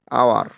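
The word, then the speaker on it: hour: তাহলে এখান থেকে বুঝতেছি যে অনেস্ট, হেয়ার, এই হেয়ার আছে কিন্তু আয়ার হবে এখানে উচ্চারণ করতে, ঠিক আছে? এখানে আমরা বলি আওয়ার, এটা ইত্যাদি এসব যদি থাকে তাহলে এখান থেকে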